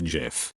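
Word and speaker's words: GIF: it's not jif it's jif like the g in gigantic i knew my son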